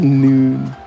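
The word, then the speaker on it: Linoone: It's Linoon like Linen.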